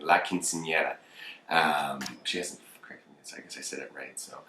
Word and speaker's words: Quinceañera: I had to say it so many times before Gigi corrected me. He's like, you keep saying it wrong. So I finally have it instilled in me, where I'm basically saying it.